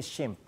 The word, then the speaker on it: SHMP: sodio sodium hameta phosphate en inglés se dice shimp aun Ah hay una